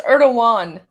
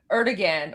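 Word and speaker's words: Erdoğan: So, there I know I say I say Erdogan. I know it's Erdogan. I know. I I just I always say Erdigan or Erdogon. I know. See, like I I mispronounce things all the time. There I kind of like Erdogon. That sounds It sounds better. But it is It is actually Erdogan.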